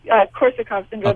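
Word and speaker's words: Korsakoff syndrome: And how does, I think it's pronounced, Korsakov's syndrome, it's a form of retrograde amnesia, play into the role of the movie? It's called Korsakov syndrome.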